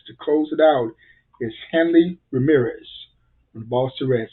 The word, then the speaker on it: Hanley: one of the stars of the game here, Hanley Ramirez. Did I pronounce it right? Yeah, Hanley.